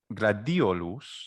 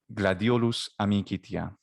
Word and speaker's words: Gladiolus: in ecclesiastical pronunciation and the first word gladiolus the accent is on the letter i and in latin gradiolus